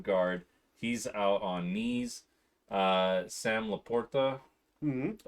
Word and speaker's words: Sam LaPorta: Sam Laporta, Mm-hmm.